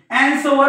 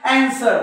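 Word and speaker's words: answer: चा काही रोल नाही अन्सवर म्हटलं का आपण अन्सवर अन्सवर असं म्हटलं का आपण नाही अन्सर म्हणजे हा डब्ल्यू काय आहे सायलेंट आहे आपण असं म्हटलं का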